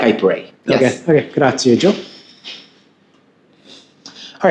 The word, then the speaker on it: grazie: So you hear a lot of Americans saying grazie because it's spelled with an IE at the end, but the E is actually pronounced like an A. So grazie.